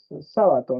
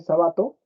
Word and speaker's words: Sábato: no o sábato perdón si algunos dicen sabato y ahí parece que dijera jabato no la cría del del jabalí pero es sábato ya sí Está bien este